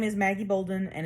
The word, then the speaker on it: Bolden: my name is maggie bolden and it's just pronounced like if it was spelled b-o-l-d-e-n my office is h-221